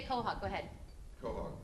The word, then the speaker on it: Quahog: Quahog. Quahog, okay, got it.